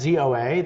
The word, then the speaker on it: ZOA: The ZOA, by the way, it's ZOA, it's not ZOA, it's ZOA. They use their letters as their pronunciation.